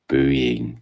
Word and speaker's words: Boeing: So say after me, please. Boeing. Boeing. Thank you very much.